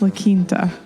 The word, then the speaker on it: La Quinta: I think it's pronounced La Quinta.